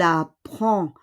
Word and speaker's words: apprend: Elle apprend. On ne prononce pas le D. We do not pronounce the D.